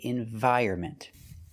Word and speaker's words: environment: look at the dictionary, you'll find two pronunciations. You'll see environment and environment, and we don't say either one. The N is silent. So for this word, we cannot trust the dictionaries. We say environment. Environment. The stress is on the second and fourth syllable.